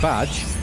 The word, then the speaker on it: Badge: Like this guy up here, who it's pronounced Badge.